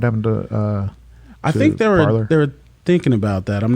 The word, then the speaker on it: Parler: So now they're starting their own apps, you know, Parler, or it's supposed to be Parlay, but they pronounce it Parler.